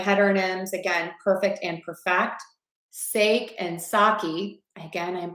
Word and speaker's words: sake: I know it's more sake, not sake. That's how we say it in the US.